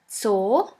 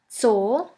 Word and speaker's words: Zoo: And the last letter is Z, Z, which is pronounced like the S in the word bits. Here we have the example of the word Zoo, Zoo, which means zoo.